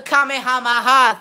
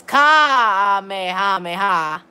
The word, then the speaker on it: Kamehameha: And be like this and do the Kamehameha thing on me. And everything. Speaking of drag, alright, then no, it's Kamehameha. Alright, I accidentally mispronounced it, I guess, because I haven't played.